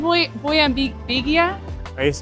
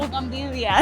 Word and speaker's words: bugambilia: Boyambigia? Bougainvillea? Bougainvillea.